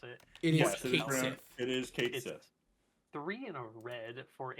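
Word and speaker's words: Cait Sith: It's a Kate Sith, which I think is what how to pronounce it. It is Kate Sith.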